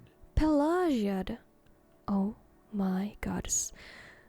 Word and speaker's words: Pelagiad: Pelagiad? Oh my gods. All this time I have pronounced it Pelagiad. But I was definitely very, very wrong.